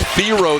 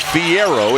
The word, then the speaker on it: Theo: ad do Theo and yes it is Theo this year not theier it has been uh he has told people since he has come to fville Theo is the pronunciation he would like he is under the